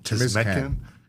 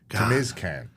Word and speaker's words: Timizkan: How do you say your last name? Timizkan. Timizkan. Timizkan. You got to do it like this.